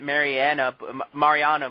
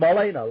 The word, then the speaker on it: Marlena: It's like I want to pronounce it Mariana, but it's Marlena, like Goldust.